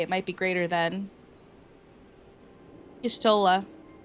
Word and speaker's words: Y'shtola: Y'shtola. Pronunciation 100% correct, though.